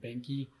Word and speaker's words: Behnke: And the way to spell A-R-T, and last name Behnke, B-E-H-N-K-E. I'll spell it phonetically as well.